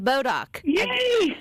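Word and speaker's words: Bodock: and I said it right this year Leah bodok I practice and it's hard to believe that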